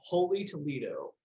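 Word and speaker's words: Holey Toledough: I'm always talking about supporting local, and there's a local place called Holy Toledo. It's spelled HOLEYTOLEDOUGH. So Toledo, like the donut, and then holy because the hole.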